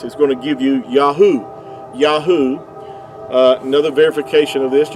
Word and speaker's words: Yahuah: get the yahoo pronunciation they're spelled with the the modern hebrew the three letters uh yahoo would give you the sound these three letters here the the yo yad and the hay and the ua would give you yahoo and uh even benjamin